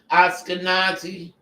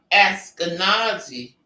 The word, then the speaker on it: Ashkenazi: And it's spelled ASH-KEH-NAH-ZEE-JOOZ.